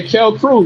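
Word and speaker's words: Kalkreuth: Tristan Calcreath? Yeah. How you pronounce his last name? Oh, Kel Crew.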